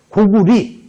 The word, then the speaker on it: 고구려: 그랬죠 같은 뜻이에요 어 원래 우리가 고려 고구려 할 때 열을 그게 이제 고려대학교 할 때 여자인데 그것을 리루도 발음해요 그래서 원래는 그 리로 해야 돼요 근데 뭐 고리고 그래서 고구리 고리 해야 되는데 뭐 너무 입에 익어 가지고 그것은 그냥 넘어갑니다 자